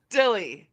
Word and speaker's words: DYLI: Jonah and Alex with I keep saying it wrong Dy LLY I say like d DIY Dilly okay I don't know why yeah yeah whatever Dilly really easy I'm wild okay Dilly I like that so much um